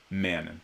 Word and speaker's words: Manon: Manon, okay.